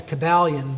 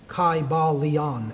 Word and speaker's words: Kybalion: It would have been a long I sound, Kybalion, and every syllable would have been pronounced.